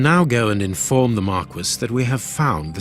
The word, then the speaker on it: Marquis: The correct pronunciation is Marquis. Come on. Watson, my dear fellow, we can now go and inform the Marquis that we have found the Samoan necklace, and